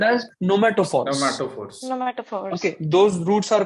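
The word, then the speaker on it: pneumatophores: Those roots are called as nomatophores. Nomatophores. Okay, those roots are called as nomatophores. Okay, P is silent in the spelling.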